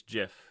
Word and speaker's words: GIF: no no drubril you're you're pronouncing it wrong it's not gif uh it's jif or is that what